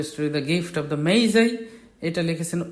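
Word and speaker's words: Magi: Number 14, who wrote the poem the gift of দ্য মেইজাই, এটার উচ্চারণ হবে মেইজাই।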